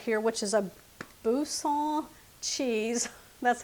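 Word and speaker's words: Boursin: some of this right here which is a Busa cheese cheese that's how it's pronounced and I'm going to stir that in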